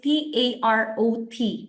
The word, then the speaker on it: tarot: say space tarot so the tarot is t a r o t it's a silent T at the end so Sacred Space tarot